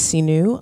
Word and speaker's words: Seenu: calm my name is Seenu on my Instagram is Yoga Seenu y ou G a si H and you you pronounce like see new possibilities and my website is